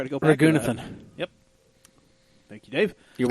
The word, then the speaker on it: Raghunathan: Raghunathan.